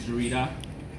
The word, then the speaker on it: Zurita: So like my last name is Zurita, so it sounds like Zudi Tech.